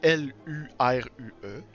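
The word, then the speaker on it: Lurue: Et ça s'écrit vraiment L-U-R-U-E. Ah. Fait que c'est vraiment Luru. Ça se prononce comme ça.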